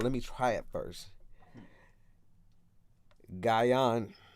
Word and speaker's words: Gyang: me hold on let me try it first gaian right guy on nope gun gun you know our people when they